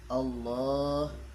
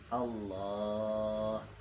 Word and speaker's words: Allah: Adapun syarat yang keenam, alla tamudda hamzatal jalalah, yaitu tidak memanjangkan huruf hamzah pada kalimat Allah. Apabila dibaca panjang, yaitu Allahu